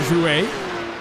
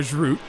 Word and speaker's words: Jouet: That's Hugo Jouet, who I believe for the first time this season I'm pronouncing his name correctly. He's no longer Hugo Groot, as I used to call him.